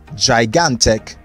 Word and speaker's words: gigantic: word is gigantic gigantic gigantic so the second g is realized as g not j and the last word